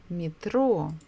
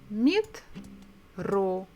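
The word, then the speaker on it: метро: International words is mitro Metro meet row so we stress the second syllable as I remember in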